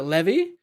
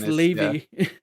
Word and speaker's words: Levy: last name wrong no been pronouncing it Levy it say it's Ley and everyone's just like